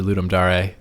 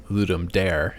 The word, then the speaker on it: Ludum Dare: I did Rainbow for ludum Dar ludum which would be how you pronounce it if you're pronouncing it like Latin which it is oh okay uh or you could pronounce it as ludum dare if you think like